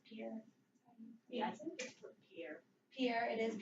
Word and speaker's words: Pierre: the state capital is it's spelled like Pierre but I guess it's pure yes here here it